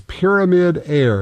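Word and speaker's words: Pyramyd Air: It is Pyramid Air, and it's spelled with Y's.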